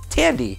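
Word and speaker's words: Thandie: pronounce her name because she has an H in there but it's not fan D its Tandy she is in Westworld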